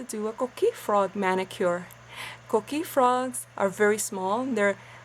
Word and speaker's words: coquí: Today I'm going to show you how to create my koki nails.